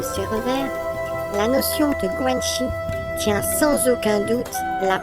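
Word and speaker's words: 关系: Le guanxi, la prononciation de cette notion est guanxi.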